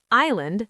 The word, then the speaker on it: island: three soft th comfortable three syllables receipt silent p vegetable three syllables island silent s that one sentence